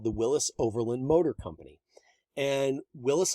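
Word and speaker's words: Willys: city you think it's willy's parkway or the willy's overland it's not the guy pronounced his last name willis um john north willis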